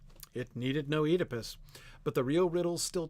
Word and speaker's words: Oedipus: In England, they pronounce the OE vowel in Greek as a long E. Oedipus is how most English people will say that name.